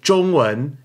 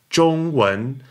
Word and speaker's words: 中文: Well, that would be 中文, Z-H-O-N-G in the first tone and 文, W-E-N in the second tone. 中文.